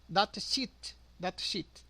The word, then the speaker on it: datasheet: A pronúncia correta é sheet com i, né? Sheet, datasheet com i.